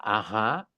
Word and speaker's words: Aja: de una chica que conocieron, Ah, Ella, así que entonces quedamos que se escribía Aja con J, A-J-A, AJA. con acento en la primera A.